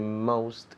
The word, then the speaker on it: most: Most. Esa O suena como si fuera una O-U. Most.